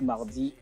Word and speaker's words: Mardy: Oui, j'ai comme nom d'artiste Mardi. Mardi, ça s'écrit M-A-R-D-Y.